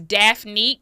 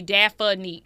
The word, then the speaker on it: Daphne: It's Daphne with two syllables, but people in the south say Daffany, so it's three syllables. I don't even correct people no more. Yeah, that's a black thing. Hey, Daffany. I get it. I get it. Uh, but it is Daphne.